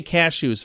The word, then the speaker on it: cashew: No, I say cashew's funny. Yeah, cashew. Cashew. Cashew. How do you say cashew? I just say cashews. Oh, okay. I think but that's you put the emphasis on the shoe.